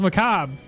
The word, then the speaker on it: macabre: French here also, yeah, the E is really not pronounced the same way the R is pronounced by rattling the palate, which is awkward for most people.